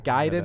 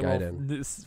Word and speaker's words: Gaiden: That's probably where the accent is on the den.